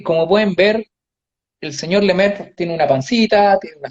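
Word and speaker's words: Lemaître: con el francés porque no sé si es Lemaitre, no sé cómo es la pronunciación exacta. Lemaitre, Lemaitre, ok.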